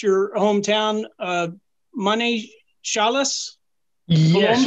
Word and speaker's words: Manizales: Please forgive me if I mispronounce your hometown, Manizales. Yes, Manizales.